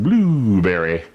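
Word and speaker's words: Blubrry: network i love seeing blueberry it's spelled kind of interestingly b-l-u-b-r-r-y blueberry but we're there as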